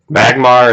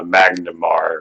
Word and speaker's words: Magmar: I remember talking about certain Pokemon where you'd say the name wrong and I was like there's a Magmar and there's a Magneton. There's not a Magnamar or whatever it whatever it was in that one episode.